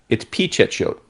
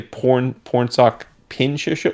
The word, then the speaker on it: Pichetshote: I feel like people insert N's into his name because his first name's got an N in it. Like I hear people say Pornsak Pichetshote because I think phonetically people think there needs to be an N in both, which is not true. There's no N in his last name.